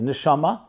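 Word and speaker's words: נשמה: So therefore in Hebrew the word for soul and the word for breath are actually the same word. They're just pronounced differently. Nishama is soul. Nishima means breath.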